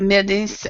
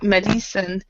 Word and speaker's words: medicine: throughout and also I with this word medicine instead of middies medicine medicine medicine so all